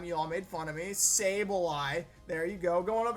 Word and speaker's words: Sableye: and his South Texas sable eyes okay I pronounce this apply last time y'all made fun of me Sableye there you go going up against Duncan and